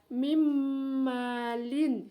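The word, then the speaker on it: من مال: Kemudian tertulisannya min malin, bacanya mim malin ya.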